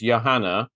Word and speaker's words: Johanna: is spelled exactly the same as yours it's Yanna is that the correct pronunciation yes it is great but I like